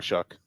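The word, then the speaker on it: Shough: Shout out to Tyler Shuck. And his name is spelled like show. Like though, yeah. Like dough, but with an S, or Yeah.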